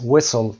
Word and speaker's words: whistle: whistle تی رو تلفظ نمی کنیم، silent letter میشه.